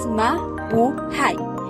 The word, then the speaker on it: mabuhay: foreigners in the country pronounced as ma bu hai is a tagalog word